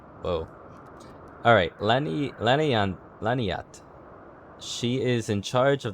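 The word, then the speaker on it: Laniatte: I'm gonna ignore that I before the T, because that's gonna make me say Laniainte.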